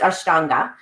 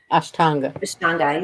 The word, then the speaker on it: Ashtanga: it was just yeah I know yeah it's pronounced Ashtanga Ashtanga yeah um many people confuse in in our